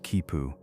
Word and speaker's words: quipu: The quipu, pronounced kipu, appears deceptively simple.